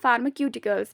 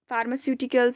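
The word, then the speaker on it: pharmaceuticals: देखिए, मुंबई फार्मास्यूटिकल्स, आधे इसे पढ़ते हैं फार्माक्यूटिकल्स भी, लेकिन फार्मास्यूटिकल्स इज़ the right pronunciation.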